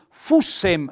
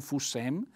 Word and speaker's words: fussen: bravo ingegnere i dischi noi Fussen un bell'accento tonico sulla u Mi raccomando non fu Sam i dischi noi Fussen